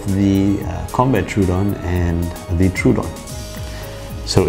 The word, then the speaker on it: Troodon: basically a dinosaur so you can either say trovodon trudon i say trudon yeah tomato tomato all right so what we